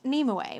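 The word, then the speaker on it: Nimue: love it neem way so lady of the lake pronounced nemoe which is interesting so it looks like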